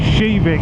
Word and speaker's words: Kivik: to a town called shivik which is actually spelled k i VI i k but it's pronounced in Swedish shivik and um there is